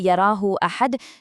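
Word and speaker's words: يره أحد: When you say yarahu ahad, don't rush that ha, elongate it.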